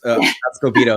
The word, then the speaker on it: Escobedo: It's Escobido is how you pronounce it or how I pronounce it. Escobido.